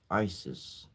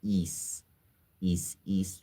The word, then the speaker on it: Isis: Also known as isis miscorre mis pronounced ISIS isis is a Greek word is has the pronunciation of is east would be the correct pronunciation or if you